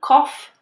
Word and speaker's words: cough: The third pronunciation is off, just like the word off, O-F-F. Some examples include cough and trough.